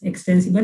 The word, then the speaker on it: extensible: so xml stands for extensible markup language right extensible not uh it starts with e later but still it's pronounced like x extensible it is called xml